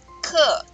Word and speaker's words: 刻: 课，课。